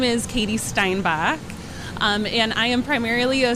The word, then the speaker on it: Steinbach: So introduce yourself to everyone and give me the correct pronunciation of your last name, if you will. Yeah, my name is Katy Steinbach.